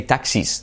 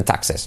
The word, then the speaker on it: taxes: Make sure you don't say taxis, sino taxes.